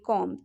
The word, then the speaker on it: comb: ठीक है, याद रखिए ये थी, एम के बाद अगर बी आए तो उस बी का कोई प्रोनाउंस नहीं है, वो साइलेंट रहता है। चलिए फर्स्ट एग्जाम्पल के थ्रू आप समझते हैं। COMB क्या हो गया, कॉम हो गया। ठीक है, यहाँ पे बी को आप साइलेंट कर दीजिए, COM, ये 3 लेटर मिला के